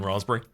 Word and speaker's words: raspberry: sis wait there's a there's a p in raspberry you don't pronounce it but it is there all right he has